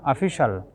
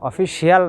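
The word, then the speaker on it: official: এখন আসুন, কোনো ওয়ার্ডের শেষে যদি CIAL থাকে, কোনো ওয়ার্ডের শেষে CIAL থাকলে তার উচ্চারণটা হবে শল।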